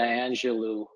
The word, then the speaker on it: Angelou: guess you could remember old Maya Angelou uh or Angelo I should say I think that's the right pronunciation right that you know